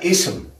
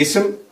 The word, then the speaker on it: اسم: نعم، همزة وصل هي كل همزة نكتبها ولا ننطق بها. صحيح؟ مثال ذلك مثلا كلمة اسم، هذه اسم.